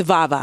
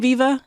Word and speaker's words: Vava: upcoming performance via or vava it's vava I'm sorry did I have I been saying Viva uhhuh I'm sorry it's aava vava vava guys I'm sorry it's been a long a lot going on vava not Viva vava um oh my